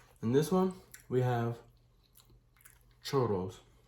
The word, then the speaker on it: churro: In this one, we have churros. Churro. I think that's how you say it. Churro. You know, gotta roll the R's.